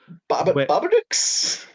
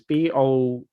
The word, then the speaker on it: Bodach: Babadooks. I Oh my think god. that's how he pronounces them. It's Bodachs, Mm, Babadooks, where he starts to figure out